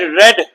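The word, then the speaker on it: read: रीड, रेड, रेड, याद रखिएगा, रेड रेड पढ़िएगा। प्रोनाउंसिएशन टाइम में रीड है, सेकंड फॉर्म क्या है?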